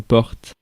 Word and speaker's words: porte: Une porte. And it's feminine. Porte. Porte. Porte. Let's see Switzerland. Porte. And let's see another one. Porte. Voilà. So you can pronounce the E or not.